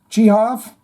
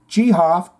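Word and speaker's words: Geoff: for about 1 second GI off pronounced gof off Tate is it really ghof cuz now I feel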